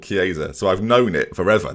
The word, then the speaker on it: Chiesa: I'm looking at Chiesa. Is that how you say it? Is that how I say it? Chiesa, yeah.